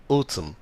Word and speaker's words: autumn: silent زي come palm MN N is silent بتكون ال N silent autumn.